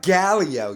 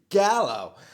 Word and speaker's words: Gallo: It's not Galileo, you It's Gallo.